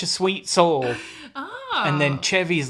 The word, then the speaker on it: Chevy: Chevy. Chevy, that's it. Chevy. Sorry. Chevy. Sorry. I was trying to say it right and I said it wrong. Chevy, like Chevy Chase.